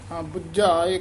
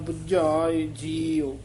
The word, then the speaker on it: बुझाय: सतगुरु दिया बुझाए जी बुझाए कसके उच्चारण करना है सो सतगुरु दिया बुझाय सतसंगत कैसी जानिए जिथ